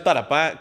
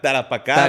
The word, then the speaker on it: Tarapacá: Oiga, trajimos alguien que sabe pronunciar tarapá tarapacá. Bien, correcto. Tarapacá.